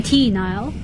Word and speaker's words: T. Nile: She was Tamara Nile on Melodies in Mind, but she now goes by T. Nile. T. Nile. And Nile is spelled N-I-L-E, like the river.